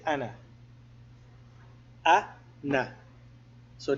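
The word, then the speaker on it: أنا: the Aleph we say Ana we don't say Ana and we say Ana ah nah so the Aleph is not pronounced if to mail or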